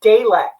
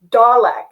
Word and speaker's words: Dalek: be this huge nerd you don't pronounce it delek it's dalek and he did it like four times and every time i